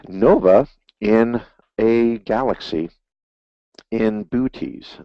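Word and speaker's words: Boötes: in a galaxy in booties so let's buotes i think is the actual pronunciation and let me see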